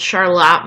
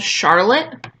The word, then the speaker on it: Charlotte: It's called Charlotte, Michigan, not to be confused, or called Charlotte. They are spelt the same way, but they're pronounced completely different.